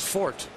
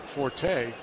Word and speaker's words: forte: fact that i' said Forte and they because it's from French right f o r te